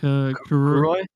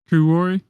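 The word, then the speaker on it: Kuroi: Kuroy Kurori.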